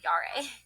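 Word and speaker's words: Jera: Pronounced Yari, Yara, Yara, Yare, Yare. There we go, Yare.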